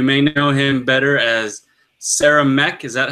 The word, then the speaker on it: Saramek: We have Will, or you may know him better as Saramek. Is that how you pronounce it, Will?